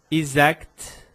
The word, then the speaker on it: exact: Por exemplo, palavras como correct, exact, eu preciso pronunciar esse kt, kt.